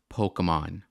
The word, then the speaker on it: Pokémon: of applause for this I like how he says Pokemon the same way like my mom says Pokemon like Pokemon like like it's called called It's pronounced Pokemon Waka you should know